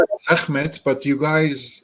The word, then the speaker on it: Sekhmet: So you call it Sekhmet, but it's Sechmet. I don't know. segment. It's like a Segment. Khe. But I think Oh, hard is hard for you guys to pronounce. segment. Yeah, it's Sechmet. Yeah.